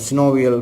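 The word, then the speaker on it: synovial: அப்போ இதை நாங்கள் சினோவியல் ஃப்ளூயிட்னு சொல்லலாம், அல்லது சில பேர் சைனோவியல் ஃப்ளூயிட்னு உச்சரிப்பிடும்.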